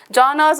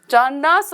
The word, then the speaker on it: genres: இதை நிறைய பேர் என்ன ப்ரொனவுன்ஸ் பண்ணுவோம்னா ஜானாஸ் அப்படின்னு சொல்லுவாங்க. இட்ஸ் ஜான்ராஸ் ஆஃப் லிட்ரேச்சர் அப்படின்றத இதை ப்ரொனவுன்ஸ் பண்ணணும்.